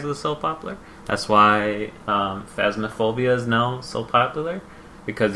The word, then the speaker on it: Phasmophobia: Phasmophobia. I can't pronounce it.